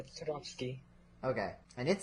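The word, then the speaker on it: Toadofsky: Okay, that's how you would pronounce it, right? Not Toad of Sky or Toad of Sky. Toad. Yeah, Todofsky.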